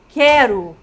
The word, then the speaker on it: quero: Ó, quando eu falo quero, pague, perceberam que daqui eu dou um salto e vou direto aqui? Pague. Quero, ó. O U nós não pronunciamos, certo?